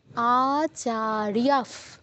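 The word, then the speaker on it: আচার্যাঃ: ইয়া তে দীর্ঘ তারপর বিসর্গের জায়গায় পরে যেহেতু প আছে তাই আমরা জানি বিসর্গের পর প থাকলে বিসর্গ স্থলে ফয় হসন্ত উচ্চারণ করতে হয় তাহলে কি হবে আচারিয়াফ আচারিয়াফ পিতারফ আবারো বিসর্গের পর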